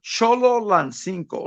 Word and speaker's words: Cholo Lancinco: Zolo. I could never. oh, Cholo Lancinco, like the word cholo. like a cholo, Solo.